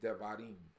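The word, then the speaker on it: דברים: But in Hebrew, it's pronounced devarim.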